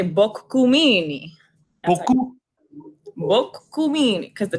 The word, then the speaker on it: Boccumini: for the first time it's actually book GU Mimi well cool mean cuz